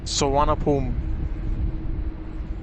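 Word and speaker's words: Suvarnabhumi: let's print out the airport in bangkok is pronounced sawanapulm i know the spelling is doesn't look like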